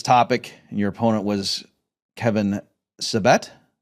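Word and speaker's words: Kevin Sabet: talking about this topic and your opponent was Kevin Sevette.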